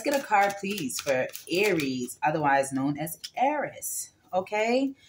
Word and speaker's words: Aries: going to be for aries aries i found that the real pronunciation of your name is um pronounced eris okay so i think